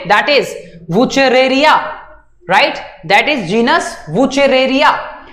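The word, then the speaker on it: Wuchereria: Naming, pronunciation ठीक करेंगे, that is वुचेरेरिया, नॉट अ वुचेरिया। वुचेरिया कोई नहीं बोलेगा, दैट इज सिंपली वुचेरेरिया बैनक्रॉफ्टी, ठीक है?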